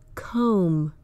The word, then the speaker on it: comb: Words like crumb, numb, comb, lamb, plum. The B follows the M at the end of the word, and that indicates that it is usually silent.